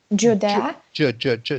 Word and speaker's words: Judea: the king of judea judea so it's just a hard j it's not the soft j of you dear you see it's the hard day of judea the king of judea